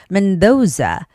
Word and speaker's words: Mendoza: Mendoza. Mendoza. The name has the second syllable stress. So, it's got to be mendoza.